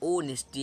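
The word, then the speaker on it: honesty: आप भले ही पढ़ लें होनेस्टी लेकिन अक्सर लोग पढ़ते हैं ऑनेस्टी मतलब ओनेस्टी आप कैसे लिखेंगे ओ पहले करेंगे ना ओनेस्टी क्या है ओनेस्टी हो थोड़ी ना आप पढ़ेंगे तो यहां पर कुछ वर्ड्स को साइलेंट कर दिया जाता है जिससे पढ़ने में हमें सरलता सुगमता हो तो यहां पर क्या साइलेंट है एच है चलिए एक और उदाहरण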